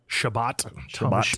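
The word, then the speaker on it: Chabot: dowdy how do you say his name c-h-a-b-o-t shabbat shabbat yeah they're the backups for i guess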